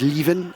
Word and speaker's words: Liven: names it's not exact liven for example is pronounced leaven in french jonas for example is